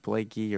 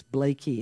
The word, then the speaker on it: Blakey: got your name wrong is it Blake e or Blake Lee I like very much that you corrected it's Blakey and I think I'm